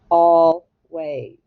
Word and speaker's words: always: sound of long a what sound does the s make z that's right z always always all right let's